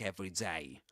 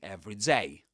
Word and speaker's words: everyday: We don't say everyday problem, but an everyday problem. Everyday problem. So we accent f an everyday problem. An everyday problem. Okay. So that's another difference between the two.